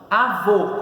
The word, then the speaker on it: avô: vou de planta oxítona avô como se separa avô Qual é o nome do quantidade de sílabas tem duas então é dissílaba qual é a posição da sílaba tônica abo é a última Então ela é oxítona sessão fera demais a